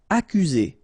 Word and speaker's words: accuser: Accuser. You don't need to pronounce double C here, because normally we only pronounce this K.